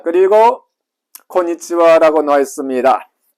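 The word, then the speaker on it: こんにちは: 그리고 원래는 하라고 읽어야 되는데요. 이 녀석이 조사일 때는 와로 읽습니다. 와로 발음을 해야 된다. 오늘은 이 단어에서 인사로 바뀐 겁니다. 그래서 고니치와 그러면 주로 12시에서 해질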